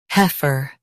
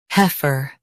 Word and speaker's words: heifer: heifer Now read the syllables shown on the screen naturally. he fer heifer Stress hef and keep her soft.